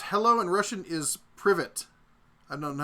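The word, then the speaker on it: привет: David says, hello in Russian is privet. I don't know how to pronounce it. Privet. I know how to speak French, so I keep wanting to turn something like that into privé, but that's not right.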